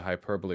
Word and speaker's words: hyperbole: I mean, clearly the hyperbole was a bit reciprocal there.